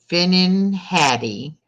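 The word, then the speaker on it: finnan haddie: all right first question what fish is called finnin Hattie when smoked in Scotland and it's spelled f-i-n-n-a-n Patty h-a-d-d-i-e what fish is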